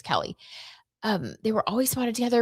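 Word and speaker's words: Keleigh: I think it's Kelly. It's spelled like Kaylee, but I think it's Kelly.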